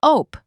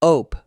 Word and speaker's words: Ope: A native Midwesterner will say, "Ope. Sorry about that." It sounds like O-P rhymes with rope, but shorter. Like a quick little puff of air. "Ope. Ope.